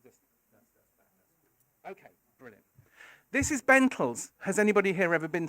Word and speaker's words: Bentalls: It's because it rhymes with mentals. That's the reason. I should say going on. Anyway, so she got him a job at the Bentalls shopping centre as Father Christmas.